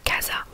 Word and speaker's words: casa: Donc par exemple casa, la maison, donc c'est C-A-S-A, donc le C et le A ça fait le son K.